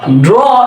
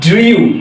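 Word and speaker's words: drew: And last word ড্র, ড্র এর past form আমরা বলি ড্রিউ, তাই না? না, এটা ড্রিউ না, এটা হচ্ছে ড্রু। এটা হচ্ছে কি ড্রু।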